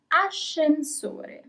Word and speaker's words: ascensore: Last word, ascensore.